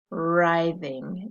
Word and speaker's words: writhing: the next story is kind of a fun one to say as it doesn't really look like what it's spelled like rising writhing is the word and when you are